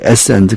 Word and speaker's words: Essenes: 물론 영어 발음은 이제 에센드 그러지만은 우리 한국 사람들은 그냥 에세네파 이렇게 말하죠.